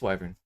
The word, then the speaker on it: wyvern: Okay, stand corrected. It is wyvern. As an English major, it is important to be to have the correct pronunciation. It is wyvern. Good There's an English man same here. Yeah, I've always heard it. Wyvern. So I've always said whiffing and just never questioned it.